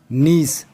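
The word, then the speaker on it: gneiss: उनसे क्या बनता है निस जब ग्रेफाइट काटने रूपांतरित होती है तो उससे निस बनता है निस की अंग्रेजी में स्पेलिंग है नेइस इसको भी आपको याद रखना है जिसमें जी साइलेंट है संगमरमर किसकी एक कायंतरित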